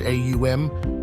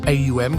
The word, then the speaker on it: AUM: with all that is AUM consists of three distinct syllables a u and M each with its own